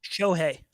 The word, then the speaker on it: Shohei: Is it Shohei? How do you pronounce his name? Shohei.